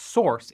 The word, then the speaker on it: SRC: as a reusable module SRC pronounced source is a common name